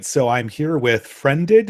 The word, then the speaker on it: Friended: All right, so I'm here with Friended. Is that how you pronounce it? Yeah, just like the Okay.